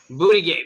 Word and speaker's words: Buttigieg: You know, Buttigieg. I've actually been seeing a lot of commercials for Buttigieg or Buttigieg or however you say his name. Buttigieg. Buttigieg. Yeah, Buttigieg. That's actually the correct pronunciation.